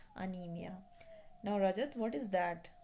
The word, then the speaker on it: anaemia: Okay, so this ANAEMIA, this is pronounced as anemia.